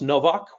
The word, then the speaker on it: Nowak: Novak uh it's pronounced Novak with a W but it sounds like a b uh you can also